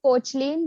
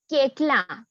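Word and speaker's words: Koechlin: everybody pronounce it as Cochlin, but ideally it's pronounced as Kekla. This is the French pronunciation, Kekla. Keklan. So la Kekla. Okay, French. Kalki Kekla. Yeah, that is how you pronounce it in French. Like that's how it's supposed to be pronounced. But in India, we all call her Kalki Kochlin.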